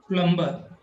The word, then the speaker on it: plumber: silent here plumber and not only the B is silent but R is also silent here Plum Plum and the